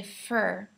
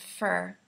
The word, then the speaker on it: for: So when Americans say for in a sentence, we change the sound. And I know it's really difficult, I'm sorry, but we say fur. Almost like an E sound, fur.